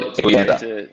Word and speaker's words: Eguienta: anything like mine, it's one that nobody can pronounce correctly. So thanks for joining us Yeah, today, Claude. Claude Eguienta.